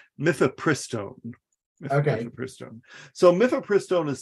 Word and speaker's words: mifepristone: It's mifepristone.